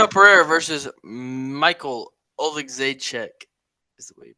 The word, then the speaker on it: Oleksiejczuk: Pereira versus Michael Oleksiejczuk is the way you pronounce that last name.